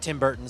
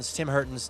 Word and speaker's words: Tim Hortons: Tim Hortons, not Tim Burton. Tim Hortons. Tim Hortons. Sorry. Hey, be proud. I at least got the last syllable right.